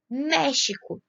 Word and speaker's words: México: México. México, nós temos a primeira sílaba como a sílaba tônica.